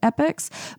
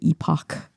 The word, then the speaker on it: epoch: that there were sleep epics. And don't get on me for the way I pronounce epic here in the USA. That's just what we do. I don't say epoch.